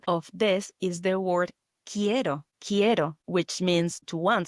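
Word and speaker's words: quiero: Another example of this is the word ko. Ko, which means to want something, like I want something. This is spelled Q U I E R O Ko. It's like as it was written with K, but it's not.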